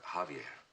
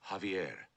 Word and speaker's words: Javier: to the Crestmont Hotel Javier beg pardon sir Javier not Javier The The J is silent you pronounce it like a ha uh Javier I can't